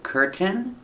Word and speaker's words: curtain: pronunciations that are correct you can say curtain Tin Tin curtain or curtain curtain where you make the stop T and it falls to an end Kirk one curtain no